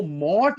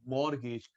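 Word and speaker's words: mortgage: मॉर्गेज, मॉर्गेज कितनी बार बता चुका हूं महेश, इसको मॉट नहीं बोलते, मॉर्गेज, टी साइलेंट होता है।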